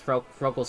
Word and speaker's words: Froakie: I believe I'm pronouncing that right. Chet, you're the Pokemon expert here. That's Froakie's correct?